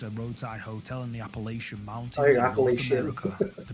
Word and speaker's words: Appalachia: Yeah, I thought it was like Appalachian, but I've heard that people from that region pronounce it Appalachia, or Oh, okay. it's not the sh sound. It's more of a ch.